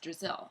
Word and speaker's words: Drazil: drizzle it was just a little joke Brazil rhymes with drizzle I thought it might